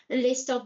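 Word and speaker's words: och: So, if it's just the pronunciation of when you write O C H, you pronounce O.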